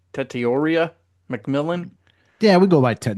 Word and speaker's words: Tetairoa McMillan: Tetairoa McMillan.